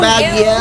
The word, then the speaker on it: Baguio: It's Baguio.